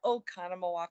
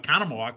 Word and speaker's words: Oconomowoc: of lightning therefore the show went on in oconomowoc wisconsin to spell that o c o n o m o